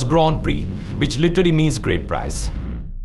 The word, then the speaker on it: Grand Prix: known as the French Grand PRI of Grand Pricks of France why the name seem like it should be pronounced prick in French it's actually in there all up it's actually pronounce Grand Prix which literally means great prize the tradition of